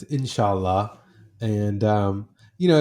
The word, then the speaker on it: inshallah: times in your book I believe it's pronounced in Salah um what does that word mean and why is that word so important to you yeah uh it's inshallah and um you know